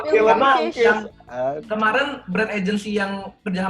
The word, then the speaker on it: Filmonkish: Gue salah pronounce, ya ampun. Gue kira film on Kiss. Iya, nggak apa-apa, no problem. Ternyata film Monkeys.